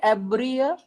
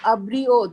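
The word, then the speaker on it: abrió: you pronounce this word abria ab ab no no no abrio that Pepe abro abro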